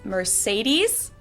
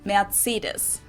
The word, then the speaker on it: Mercedes: So most Americans call this Mercedes. In German, we pronounce it Mercedes. So Mercedes versus Mercedes. Mercedes. So it's really pretty different.